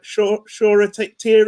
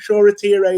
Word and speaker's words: Shoretire: i'm pronouncing it right i've seen about three different pronunciations of his name so i hope i'll get it right sure a t-ray is what i'm going to go with and first of all